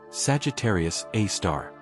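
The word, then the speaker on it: Sagittarius A*: The object is called Sagittarius a asterisk pronounced Sagittarius A star.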